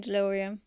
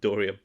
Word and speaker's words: Dorium: I'm not See, I'm not invested in Deloreium. Deloreium. How do you spell it? How do you say it? Dorium.